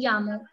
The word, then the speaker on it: llamo: Yeah, me llamo. You're getting it? Double L is pronounced as Y. Yeah.